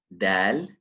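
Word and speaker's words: دال: And then we have the dal. It's closer to the teeth than the ta. Dal. And the common mistake is releasing a when pronouncing this letter.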